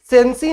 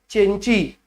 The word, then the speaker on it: Cenci: सेंसी नहीं पढ़ते इसको, इट इज प्रोनाउंस्ड एज चेंची।